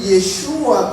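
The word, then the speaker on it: Yeshúa: buen mesiánico no de yeshua con el acento en la u como se pronuncia pero es un problema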